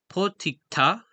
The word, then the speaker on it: potikta: his videos, is and this word, the stress is put on the last syllable, as it's in the foot on the right.